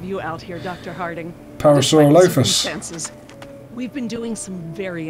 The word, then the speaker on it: Parasaurolophus: Parasaurolophus. See that one? She's the lookout. That's how Pete Postlethwaite pronounced it.